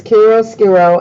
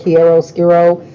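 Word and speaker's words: chiaroscuro: shadow carol scarole excellent job it is it's carol scarole and some people pronounce it quiero skiro oh i say cairo squirrel as well so um that is the the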